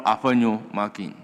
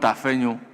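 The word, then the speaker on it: Afenyo-Markin: Honorable Afanyo Makin. Not Afenyo. Togbi Afanyo Makin.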